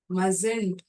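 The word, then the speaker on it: mustn't: lies நீ பொய் சொல்லக்கூடாது மஸ்ட் மசன்ட் மஸ்கின்ட்ன்னு சொல்ல மாட்டோம் இங்கிலீஷ்ல இதை எப்படி உச்சரிக்கணும் மசன்ட் சோ சுட் இஸ் எ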